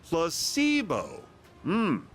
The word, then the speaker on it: placebo: to our vocabulary today repeat after me placeo H the stress is on the middle syllable very good you're feigning